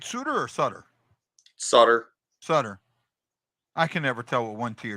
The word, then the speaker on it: Suter: Sutter. I can never tell with one T or two T's. You can always pronounce things any way you want, actually.